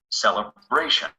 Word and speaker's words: celebration: We stress the syllable just before the shun. Celebration. The stress stays on this syllable even if we add another ending after the shun.